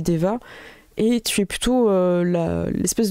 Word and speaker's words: Daeva: Donc, ça s'écrit D-A-E-V-A, mais on dit Deva.